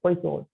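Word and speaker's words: Poisson: what principle has uh slightly odd spellings okay so this is pronounced as poison for those equations okay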